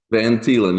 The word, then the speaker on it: Van Thielen: So, everyone, please welcome Van Thielen. Did I pronounce that right? Van Talen. Yes, it's originally Dutch, CJ, but it's good.